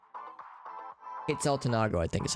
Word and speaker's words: Quetzaltenango: How would I pronounce that? Quetzaltenango? Quetzaltenango, I think is how you pronounce it.